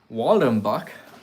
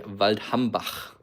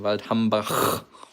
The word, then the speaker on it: Waldhambach: Okay, Miffy would like to see Waldenbach, like the Americans like to pronounce it. But if you are, you know, German, you would say Waldhambach. You know, it takes a little bit of practice on your throat, but eventually you can master the right pronunciation.